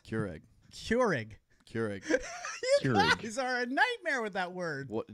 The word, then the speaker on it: Keurig: times over Keurig nothing it's not how you say it Keurig how you cure a disease Keurig Keurig Keurig that word